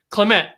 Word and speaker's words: Clemett: let's bring up here and it's clement hey well done that was awesome i love the way you pronounce my surname okay so i mean yeah